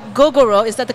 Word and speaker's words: Gogoro: Horus Luke um and your company is called gogoro is that the correct correct pronunciation it's called goo gogoro okay and um it's a very interesting sort